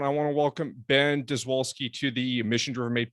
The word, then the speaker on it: Dziwulski: In Poland, technically it's pronounced Dziwulski, I believe. Like the DZI makes a bit of a J noise, so Dziwulski. But in Maryland, we say Dziwulski. If you say Dziwulski, that's acceptable.